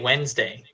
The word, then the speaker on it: Wednesday: D is silent here the D and the e here is silent Wednesday okay so the